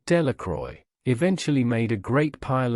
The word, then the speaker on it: Delacroix: Bobby and Harry Jones and Dickie Delacroix, the villagers pronounced this name, Delacroix, eventually made a great pile of stones in